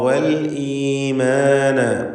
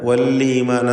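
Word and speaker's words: والإيمان: അദ്ദാറ വൽഈമാന. വല്ലീമാന എന്ന് തെറ്റായി പലരും പറയാറുണ്ട്, സൂക്ഷിക്കുക. വല്ലീമാന പറയരുത്. ഹംസ വ്യക്തമാക്കി മുറിച്ച് ശിദ്ദത്തോടുകൂടി ഉച്ചരിക്കേണ്ട ഹർഫാണ്.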